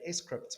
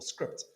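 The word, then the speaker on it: scrypt: litecoin their whole premise was that s crypt or script there's two pronunciations it depends which you know one you follow but their whole the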